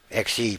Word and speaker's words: Xe: Perhaps the State Department should have cut all contracts with Blackwater, which is now XE pronounced Z.